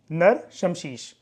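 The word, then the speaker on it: नराशंसी: जैसे एक का नाम है दान स्तुति, नंबर 2 गाथास, नंबर 3 नर शमशीष, ठीक है, इसकी प्रोनाउंसिएशन है नर शमशीष, और एक है आख्यान, ठीक है।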